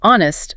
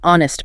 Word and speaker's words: honest: So a word like honest starts with an H, but you say an honest person. Because the H is silent.